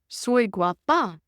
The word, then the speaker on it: guapa: said pointing at her no guapa she corrected him emphasizing the a sound of the second syllable Daisy guapa John guapa